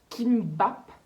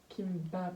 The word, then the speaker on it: kimbap: Et là on a commandé chez Kimbap. Kimbap. Oui, Bap. B-A-P, Bab. Bap. C'est dur à prononcer.